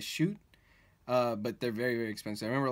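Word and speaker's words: Schott: I believe you pronounce that brand as Shoot, but they're very, very expensive.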